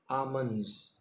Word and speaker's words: almonds: ALMONDS. What are आमंड्स? बादाम. ठीक है, एल साइलेंट है इसमें. आमंड्स.